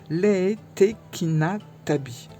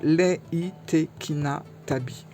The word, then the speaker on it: Reitekina Tabi: Voilà, on va parler du tarot Leitekina-Tabi. Leitekina-Tabi. Voilà, parce que ça se prononce comme ça. Le R se prononce pas au Japon, hein. Le R est un L, donc Leitekina-Tabi.